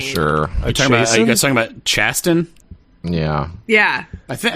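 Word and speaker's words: Chasten: you guys talking about chastain yeah yeah i think i think it's pronounced chaston which is wild to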